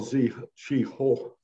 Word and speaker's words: Zheng He: let's start first with the admiral z ho which i believe is the correct pronunciation and we'll have a